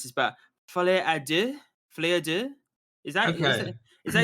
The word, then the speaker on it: Folie à deux: I don't even know how I'm going to pronounce this, but Folie à deux? Is that okay? Is that you pronounce it? Folie à deux, yeah.